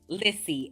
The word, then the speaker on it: Lissy: How do you say it? Lizzy. Lissy.